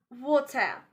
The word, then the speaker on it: water: If you find ER sound at the end of a word, so you need to use AH sound instead of pronouncing ER sound. You need to pronounce it like water, water with AH sound.